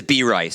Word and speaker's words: B. Rice: Yeah, and his name is B. Rice. So especially pronounce it that way.